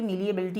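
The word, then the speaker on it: malleability: तो वैसे तो ये मीलिएबिलिटी होता है, लेकिन अगर आप इसको इस तरह से समझें मैली एबिलिटी याद करने के पर्पज़ से, तो मैली एबिलिटी, क्योंकि कई बार स्पेलिंग में से भी मिस्टेक हो जाती है तो आप लोग स्पेलिंग्स का भी ध्यान रखेंगे। मैली एबिलिटी यानी कि मीलिएबिलिटी, पढ़ा ये मीलिएबिलिटी जाएगा बट होता क्या है मैली एबिलिटी।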